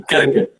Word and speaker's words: Krka: Também é um nome um pouco difícil de pronunciar, mas é assim, Krka.